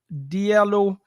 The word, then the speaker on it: Diallo: into this channel guys my name is Diallo that's spelled Diaz in David i-a-l-l-o and every single